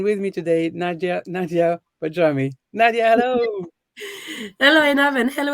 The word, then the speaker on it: Bajrami: untangled healing and with me today Nadia Nadia pajami Nadia hello in heaven hello everybody and well done on pronouncing my surname correctly um so I'm very